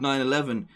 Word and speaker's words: 911: that it's weird that instead of saying 9-1-1 which is pretty much how most people pronounce oh call 9-1-1 the guy in the game has said 9-11 um and then kojima